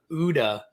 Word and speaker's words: OODA: what you call the udda loop i think i said that right yeah because you said in the book it rhymes with gouda so that lube so